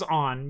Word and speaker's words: onn: Yeah, Walmart owns On. Yeah, I knew that. It's pronounced On.